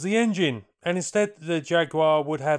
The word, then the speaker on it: Jaguar: Unfortunately, their aircraft, the XF10F Jaguar, or Jaguar to the cousins, didn't pay out. Or at least, not initially. The Jaguar, and I'll use the American pronunciation because it was an American aircraft, originated as Grumman's Model